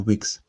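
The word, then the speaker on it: Whigs: So the political they are wigs. W H E N G S. They are spelled with an H. I thought it had something to do with that. But these are the wigs and toys and the political party is spelled with an H. Now I don't know what it means.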